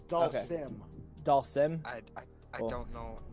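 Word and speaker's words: Dhalsim: And how do you pronounce answer. the name? It's Dasim. Dasin, It's Dalsim.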